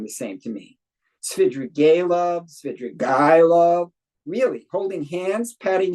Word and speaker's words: Svidrigailov: Did you or whoever did it spell it wrong? I did it. It's Svidrigailov, a character.